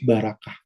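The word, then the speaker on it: ברכה: Kalau di Ibrani itu barakah, atau dari bahasa aslinya beraukau, gitu ya, dibacanya barakah.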